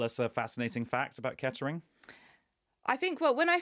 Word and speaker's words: Kettering: speech as well is it's very often mispronounced as ketering um but actually if you're from there it's ketering so it's to syllables three yeah so that's how